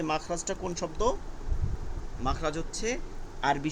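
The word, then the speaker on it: مخرج: কোন বাংলা শব্দ না উচ্চারণ হলো মিম খ মাখ মিম খ জবর মাখ র জিম জবর রজের মাখ রজের মাখ রজে আমরা সবাই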